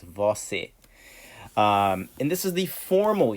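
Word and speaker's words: você: formality to and then we have vosse okay so it's vosi and this is the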